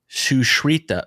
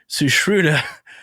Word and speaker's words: Sushruta: I'm not good at pronouncing names. It's Sushruta, Sushruta, Sushruta, Sushruta, Sushruta.